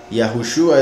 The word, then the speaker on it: Yahushua: O sea, es que Yahushua es el nombre del Mesías, Jesús es otro nombre.